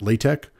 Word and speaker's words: LaTeX: And the pronunciation of LaTeX, that goes back to the people that created it. But Donald Knuth is a famous computer scientist, and he said it's pronounced LaTeX.